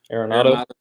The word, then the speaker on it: Arenado: Arenado.